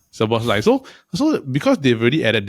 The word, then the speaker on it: Szoboszlai: Is it how I pronounce it? Szoboszlai. Yeah. Szoboszlai.